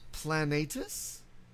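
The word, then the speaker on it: Planetes: name of that anime I think it's plenty at this yeah yeah it is plan natus well the way it's spelled is planet es yes okay and you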